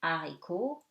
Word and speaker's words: haricot: Okay, and something very easy, H is always silent. O, haricot, heure, dehors.